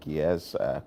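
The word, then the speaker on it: Gies: Eden Noel who is the clinical associate professor and with GZ College of Business University of Illinois in Banana Champagne. Is that it? Yes. Geese.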